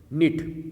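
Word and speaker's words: knit: निट, यहाँ पर के साइलेंट है।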